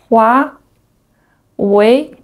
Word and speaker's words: Huawei: The first one, HUAWEI hua hua wei wei HUAWEI HUAWEI The second one is Xiaomi